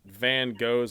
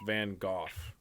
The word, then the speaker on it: Van Gogh: I just learned that Van Gogh's name is pronounced Van Gogh. Really? Yeah, that I've heard that, but I don't like it. apparently Americans are the only people that say it as Van Gogh.